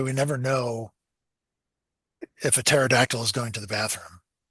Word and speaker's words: pterodactyl: Um, what's the reason why we never know if a pterodactyl is going to the bathroom? It's because the P is silent.